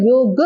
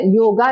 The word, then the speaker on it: योग: अगर आपने योगा लिखा, YOGA लिखा, लेकिन उसको प्रोनाउंसिएशन होगा योग, जैसे राम होता है तो हम रामा नहीं पढ़ते हैं। आयुर्वेदा पीछे ए लगा देते हैं, लेकिन वो आ नहीं पढ़ा जाएगा, वो आयुर्वेद होता है।